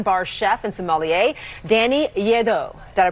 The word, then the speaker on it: Lledo: So here to test our taste buds with a vino-filled round of trivia is Slate Wine Bar chef and sommelier Danny Lledo. Did I pronounce that?